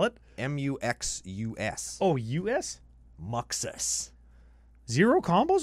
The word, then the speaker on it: Muxus: Maybe it's Muxass. Muxass. No, it's not Muxass. Well, I'll submit the Muxus combo.